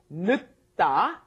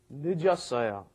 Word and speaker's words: 늦다: Notice when it comes up against another consonant, it doesn't get fully pronounced, right? 늦다, because it came up against another consonant, but then when it's conjugated, it comes up against a vowel. The 0 plus a vowel makes it 늦었어요.